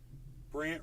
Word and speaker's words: Brandt: Brant. You should all be following at Brant. BRANDT. Brant. And Brant is spelled BRANDT. It's a weird spelling, Brant.